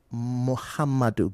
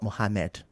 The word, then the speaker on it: Muhammadu: Then Muhammadu Buhari, not Mohammed. Mohammed is a different name, so it's Muhammadu Buhari.